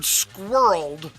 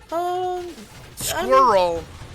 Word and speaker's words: squirrel: english i'ma fight that squirrel squirrel is two syllables i know some people are like squirrel but that's like that that one i think is just a like a dialect thing because i've always pictured